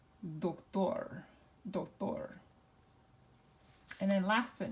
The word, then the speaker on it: doctor: So now which syllable gets the emphasis? Well, what does it end with? It doesn't end with an N, it doesn't end with an S, it doesn't end with a vowel. So we have to go with the last syllable. And so the way we pronounce this is doctor.